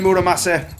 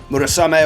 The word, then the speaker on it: Murasame: so it's me and muramase if i can say it right i'm adding an extra n in there that isn't there but it's me and murasami in the final murasame of course a great